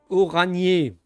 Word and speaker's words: Orandier: Orandier se prononce oranier.